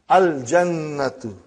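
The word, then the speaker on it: الجنة: Then we have jim, brother. You will pronounce lam. Al jannatu.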